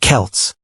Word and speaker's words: Celts: The people who lived there were called the Celts, pronounced Celts.